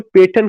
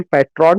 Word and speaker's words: patron: पास पैसा है, जो पेटर्न का भी काम करते हैं। पेटर्न संरक्षक का, जिसका हम लोग प्रोनाउंसिएशन पैट्रॉन कहते हैं, that is नॉट पैट्रॉन, that is पेटर्न, PATRON, वह वहां पे भी काम करते हैं।